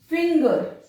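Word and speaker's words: finger: फिंगर, फिंगर। अब यहां पर भी ग साउंड है और यहां पर वही ज साउंड।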